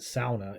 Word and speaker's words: sauna: deal they'll call it they pronounce it sauna in finnish but you know we